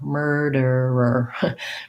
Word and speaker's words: murderer: er position and then just another er erder murderer murderer this one the er er is probably